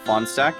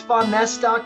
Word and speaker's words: Fahnestock: Actually, you're really, really close. It's Fahnestock technically, but I'll go with Fahnestock over Fahnestock or Fahnestock or some of the others that I get.